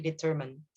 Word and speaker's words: determined: We don't say the I with I. So it's instead of determine, it's actually determined.